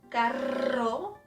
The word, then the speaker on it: carro: Because if you pronounce this R soft, as if it was just one, the meaning is different.